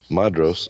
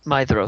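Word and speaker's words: Maedhros: Madros, oldest son of Fëanor. Is that how y'all pronounce that? Madros? Yeah. Madros? It's Mithros. That's right. DH is a Maestros. TH. Maedros. Mithros.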